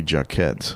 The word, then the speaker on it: Jacquet: I've only seen clips, but it's How do you pronounce his name? Jeremy Jacquet.